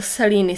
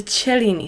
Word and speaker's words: Cellini: if you are wondering why it's called a seline spiral actually some people call it the cellini spiral and they are right that's how it